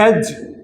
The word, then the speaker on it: edge: और इसी तरह एज, ई डी जी ई, एज है ये किनारा, इसको एडेज नहीं पढ़ा जाता।